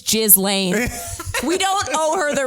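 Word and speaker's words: Ghislaine: no we don't like gizlane is that how you say it okay here's the thing it's i guess jillaine it's jizz lane we don't owe her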